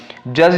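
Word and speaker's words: judge: बहुत सारे होते हैं जज लिखा तो यह जो डीजी होता है और इसका जो दी है वह साइलेंट हो गया तो कई बार ऐसा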